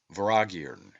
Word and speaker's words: Vortigern: The T is silent and M is inflected, as is common in the Celtic, and is given the sound of V. The word is phonetically pronounced Voragirn and signifies a great lord, a prince, or ruler.